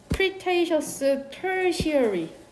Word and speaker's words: Cretaceous Tertiary: 보면은 4번 문장에 이거 Cretaceous Tertiary 라고 읽는다.